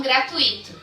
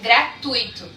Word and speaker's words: gratuito: então olha só gratuito na palavra gratuito não tem o que acento grave o que ajuda as pessoas a se confundirem a pronúncia e muitas vezes falam gratuito mas não e são decidir para os olhos porque a forma adequada para a linguagem padrão é gratuito aonde sonda eles são